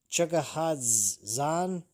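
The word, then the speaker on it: Chukhadzhian: Uh Chugahad Zan, I believe is how you're pronounce it.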